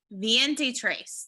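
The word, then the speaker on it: veintitrés: Oh, Viente trace.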